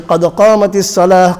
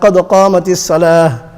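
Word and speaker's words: قد قامت الصلاة: So qad qamatis salah, qad qamatis salah. So the ta is there, but ta will not be pronounced because you will place,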